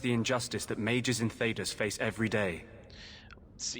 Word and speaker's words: Thedas: injustice that mages in Thedas face every day. See, you notice that he said Thedas. I'm gonna try better to pronounce that correctly. I have a bad habit of calling it Thedas, so yeah.